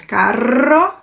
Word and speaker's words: carro: Se ele estiver no começo de palavra, ou se ele for duplo, né, 2 R's, eu tenho que arrastar mais esse som. Então, cero, r, cero. Começo de palavra, eu arrasto mais. Rio, meio de palavra, triste. 2 R's, eu arrasto mais. Carro.